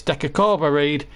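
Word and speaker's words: De Cordova-Reid: Pace to see off Bobby Reed and uh does really well and before people start correcting me and saying it's Deca Cora read I know I just can't pronounce that deob bit it's uh also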